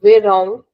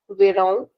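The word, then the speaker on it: verão: Summer is called vang with a nasal sound vang.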